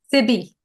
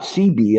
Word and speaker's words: Sibi: How do you pronounce that in Sibi. Sibi? Okay, so it's not CB. It's Sibi.